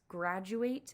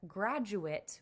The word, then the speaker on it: graduate: So for our purposes, graduate is a verb. But graduate, which is spelled the same way, is a noun.